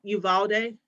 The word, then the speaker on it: Uvalde: I think about Uvalde. Am I pronouncing it correctly? I think I am. Yes. Uvalde, the Texas.